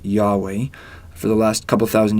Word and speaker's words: Yahweh: in Hebrew of hey most scholars believe God's name was originally pronounced Yahweh for the last couple